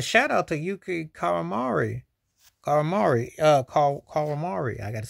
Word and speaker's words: Kawamura: Kawamura.